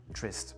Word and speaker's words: interest: Donc ici, trois syllabes, "interest", accent sur l'avant-avant-dernière qui est donc la interest ou encore le mot Saturday Saturday accent sur l'antépénultième, c'est la première Saturday.